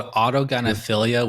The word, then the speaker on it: autogynephilia: It's called autogenaphilia, which means uh love of oneself as a woman.